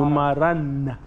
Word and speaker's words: numaran: Numaran is your number.